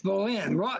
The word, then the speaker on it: Bolin: It's Bolin. He was an ichthyologist at Hopkins. Yeah, yeah. He was a good friend of J.B. Phillips. They used to, in fact, I was told that Ralph Bolin and J.B.